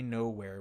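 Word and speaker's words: Knowhere: go to nowhere right no way silent K nowhere which is the head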